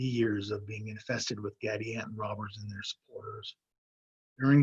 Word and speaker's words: Gadianton: Catilina and Gadianton are both four-syllable words with similarities in each syllable. First syllable, cat and gad, have the same vowel sound and the same mouth position for both the leading and ending consonants, cat, gad. Second syllable, both names have the letter I, which makes slightly different sounds, I versus E, Catilina, Gadianton. Third syllable, stressed in both names, both end with the consonant N, Catalina, Gadianton. Fourth syllable, both have the